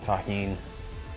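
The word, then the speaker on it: Tajín: everybody that knows the deliciousness of Tajin that's how you pronounce this it's delicious with the addition of the tahin this corn was actually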